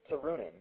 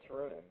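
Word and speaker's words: Turunen: her name it's turu n yeah let Kai pronounce it tuua tunin there you go that's how it is TOA tunin thank you man he just pronounced it to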